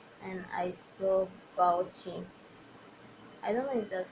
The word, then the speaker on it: Bauchi: So when I got my um deployment letter and I saw Bauchi, I don't know if that's how you. Some people say you pronounce it Bauchi, and some say you pronounce